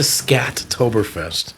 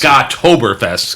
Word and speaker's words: Scottoberfest: In other I news, can't believe you pronounce it Scattoberfest. I didn't write that. Mo did. Oh, no, but you it pronounced doesn't. Yes, you pronounced it. It's Scottoberfest. You put the T in the wrong place.